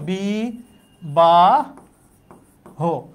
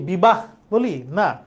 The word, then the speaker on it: বিবাহ: তাহলে এটার উচ্চারণ হচ্ছে বি বা হ আমরা কি কি বলি বিবাহ বলি না বললে এটা ভুল বলি হয়তো হিন্দি উচ্চারণ এরকম বিবাহ কিন্তু হবে বিবা হো শব্দের শেষে যদি হবিন্দ